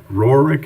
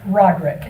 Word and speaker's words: Roderick: last speaker is rohrick is that correct i hope i'm the only in the room because he butchered my last name roderick oh i apologize 11